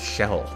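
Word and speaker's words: Kjelle: I I've been told her name is actually pronounced shell um but I always thought it was K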